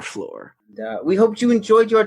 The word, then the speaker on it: Flore: That's lore with an F at the beginning. So it sounds like floor, but it's not the floor you're thinking because it's our floor.